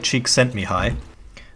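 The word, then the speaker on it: Csikszentmihalyi: mahali how the do you pronounce his name one second mihai cheek sent me high so now it's time to discuss the extrinsic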